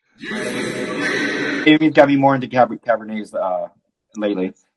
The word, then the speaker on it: Cabernet: I thought it was Cabernet and Merlot. Yeah. But like David Sabat. That's why they're always laughing at me. Check out. The T is silent. It's French.